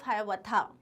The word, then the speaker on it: Hiawatha: His well-known poems include Paul Revere's Ride and the Song of Hiawatha. और इसको हियावाथा भी बोलते हैं, both pronunciations are correct.